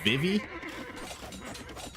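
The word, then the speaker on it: Vivi: aa's army basically gone viv's Army what you see is what you've got here by the way I've been told that uh I'm pronouncing viv's name wrong it's not Viv it's Vivy very small difference I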